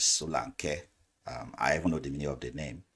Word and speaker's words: Solanke: A lot of people call him Solanke. That's the English version. The right pronunciation is Solanke.